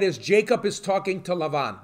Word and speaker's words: Laban: Jacob is talking to Lavon Laban okay so I'll be using a lot of the Hebrew pronunciations so yeah akov is